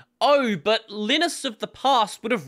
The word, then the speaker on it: Linus: Linus or lenus so lioness is the closest equivalent that is used in an English context and there's no point